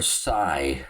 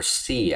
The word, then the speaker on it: Sy: Omar Sai or C I heard it pronounced also he's fighting this